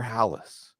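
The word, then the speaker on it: Halas: Today, Belichick ties Papa Bear Hallis, which rhymes with Bring on Atlanta, Bring on Dallas from the Super Bowl Shuffle, because we're talking about Chicago.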